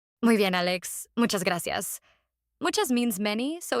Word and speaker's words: gracias: Gracias. Gracias. Another one most people know. But here's a pronunciation tip for our listeners. The cas at the end sounds like seas. Gracia, not gracious.